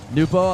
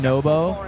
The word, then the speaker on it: Nobo: Noopo, a lot of people say his name wrong. He wins. Finally, it becomes Nobo.